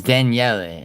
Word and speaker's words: Daniel: And then right here, Nina Marie Daniel, her ex account. So I Yeah, Mel. I would never Nina Nina Marie Daniel pops up. It's Danielle actually is how you pronounce it.